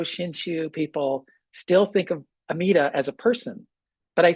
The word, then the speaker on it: Amida: The Japanese pronunciation of the Sanskrit is Amida.